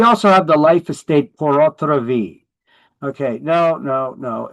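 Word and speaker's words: pur autre vie: It is not French. I know people argue it's French. That's how it means in French. You pronounce it the same way. No. If it was French, it would be P-O-R. This is Latin. It is P-U-R.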